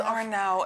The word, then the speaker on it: Arnow: I'm pronouncing her name Arnow. I don't know how you want it pronounced. Is it Arnow or Arnow? It's Arnow. It's Arnow. Everything's anglicized. It should be Chenia, but it's Chenia. Really? Because people can't manage it.